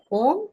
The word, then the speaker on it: ओम: एक वर्ड है बट वो तीन अक्षरों से बनता है। अ, उ और म। तो जब हम ओम का उच्चारण करते हैं तो हम उसको इस ढंग से करते हैं कि जैसे हम पहले हमने सांस पूरी अपना अंदर अपने पूरी सांस भरी लेवल तक फिर उसके बाद हम अ का उच्चारण करते हैं चेस्ट फिर उ को हम करते हैं अपने थ्रोट एरिया तक और फिर म से हम वाइब्रेशन करते हैं और ये पूरा उसके